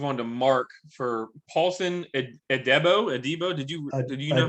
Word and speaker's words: Adebo: So we're going to move on to Mark for Paulson Adebo. Did you know how to pronounce this? Adebo is what I've heard other non-experts saying. So we're going with Adebo.